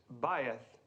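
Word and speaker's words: bayith: what Mr Crane uh Faith almost right Mr Crane thank you the correct pronunciation is baith and who can tell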